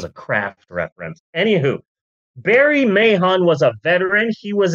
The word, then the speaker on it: Mahon: a guy named Barry Mahon and I'm sure the H is silent like Vince McMahon but uh I believe that all letters matter yeah sorry Barry man you're Barry Mahon now